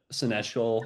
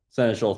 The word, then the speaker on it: Seneschal: for a while, but I really like the senestial a lot. I think I'm pronouncing that right, but Senator, Senator Schul, thank you.